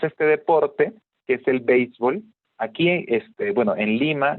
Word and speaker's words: béisbol: pero de todas maneras la pala es frecuente pronunciar como béisbol no como si fuera palabra aguda béisbol pero lo correcto es béisbol no y esto porque el béisbol viene de una palabra en inglés así no es es